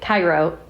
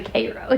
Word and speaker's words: Cairo: And so she kind of razzes me about it, because poor Ryan pronounced it Cairo, and it was actually Cairo.